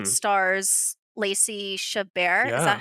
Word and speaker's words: Chabert: And so Hot Frosty, I will say, stars Lacey Chabert.